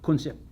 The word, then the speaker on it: kunsip: What we simply did is take the English word gunship, filter it through the Navi pronunciation system, and it comes out kunsip.